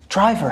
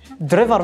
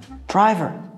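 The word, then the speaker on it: driver: هاي درايفر حبيبي. واضحة. درايفر سايق. دريفر منو هذا؟ درايفر.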